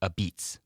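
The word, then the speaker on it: apizza: Which US city is famous for aisa, which is pronounced a beats? Which US city is famous for a beats?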